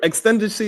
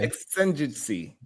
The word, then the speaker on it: exigency: We can't even pronounce the word. Yeah, that's not a word. Extendency is not a word. Extingency?